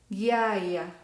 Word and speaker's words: ghiaia: Voy a pronunciar guepardo, ghiaia.